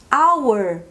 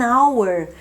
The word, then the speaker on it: hour: E se a minha palavra tivesse um H, mas esse H não fosse pronunciado, do tipo our?